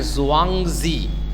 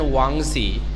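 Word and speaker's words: Zhuangzi: n g z i now sometimes the z is silent one z okay sometimes the pronunciation is one z so confucus and wangzi they are actually chinese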